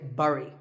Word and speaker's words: bury: I used to say bury I mean it looks like that right but this word sounds just like the berry in Strawberry so once again Berry